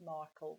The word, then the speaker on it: Markle: Sparkle rhyming with Markle, which was Meghan's maiden name before she married Prince Harry.